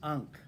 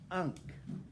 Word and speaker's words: ankh: it so the egyptian word for mirror is ankh yeah you know that symbol okay the egyptian word for mirror is unk how do you spell that a-n-k-h but guess